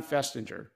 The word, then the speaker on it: Festinger: public health today I'm not sure how you pronounce but Dr finger or Fest festinger yes Leon festinger you mention him with um praise but you